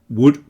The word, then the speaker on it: would: Obviously would, could, and should all have silent L's. So that would is exactly the same as wood that comes from trees.